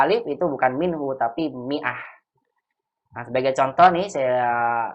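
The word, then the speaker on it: مائة: Maka diberikan sukun di atasnya bulat, tandanya nggak dibaca kan dalam ilmu tajwid. Mi'ah dibacanya begitu.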